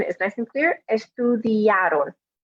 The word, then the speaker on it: estudiaron: Again, not estudiaron with a stress on the O at the end, but estudiaron. Remember, in Spanish, we always put the stress, always with an asterisk. In general, we always put the stress on the second to last vowel in the word.